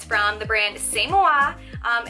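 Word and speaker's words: C'est Moi: it's from the brand samoa um you look at it and it looks like siesta muy but it's the same wa and it means it's me in french it's so cute this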